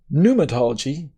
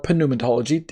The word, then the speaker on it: pneumatology: when we talk about pneumatology or pneumatology if you don't pronounce the p um give me a